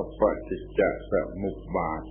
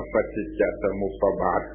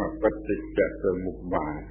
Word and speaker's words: ปฏิจจสมุปบาท: เรียก ว่า ปฏิจจสมุปบาท ่ ออก เสียง ให้ ถูก ต้อง ว่า ปฏิจจสมุปบาท ไอ้ ตัว หนังสือ มัน เขียน จะ อ่าน ว่า ปฏิจจสมุปบาท ได้ อย่าง นั้น เอา เสียง ไม่ ถูก ต้อง เอา เสียง ถูก ต้อง ว่า ปฏิจจสมุปบาท แปล ว่า การ อาศัย